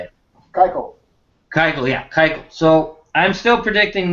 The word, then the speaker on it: Keuchel: And Kubra there. I think that's how you say it. Keuchel.